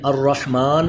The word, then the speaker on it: الرحمن: بسم اللہ الرحمن الرحیم، لیکن الرحمن اور الرحیم اس کے را کے اوپر زبر آ رہا ہے، اس لیے را کو پر پڑھ رہے ہیں۔ تو چلیے ہا کے